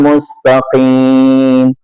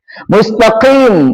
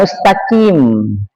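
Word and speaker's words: مستقيم: Ihdinal mustaqim. Huruf yang paling berat dibaca huruf sh dan huruf th itu susah, harus latihan. Mustaqim bukan mustaqim ya kan. Mustaqim pakai huruf K. Harusnya qo mustaqim.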